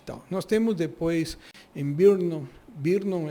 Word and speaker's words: Brno: Nós temos depois em Brno é BRNO, então é difícil pronunciar, na República Tcheca, uma casa modernista que